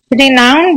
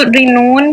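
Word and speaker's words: renown: रिनाउन भी नाउन है, नाउन part of speech, ठीक है। कुछ लोग इसको रिनोन भी पढ़ते हैं लेकिन उसकी स्पेलिंग और इसकी स्पेलिंग में डिफरेंस होता है, ठीक है।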